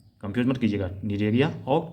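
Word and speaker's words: Cnidaria: देखिए निडेरिया और टीनोफोरा दोनों में सी साइलेंट है, कंफ्यूज मत कीजिएगा, निडेरिया और टीनोफोरा।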